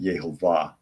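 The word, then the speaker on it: יהוה: or jovah from but that's anglicizing since there is no J in Hebrew because the J sound is not pronounced is yov would be the closest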